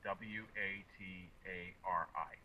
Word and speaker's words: Watari: where I work the town where I work is spelled w a t a r i watari and how affected was that town by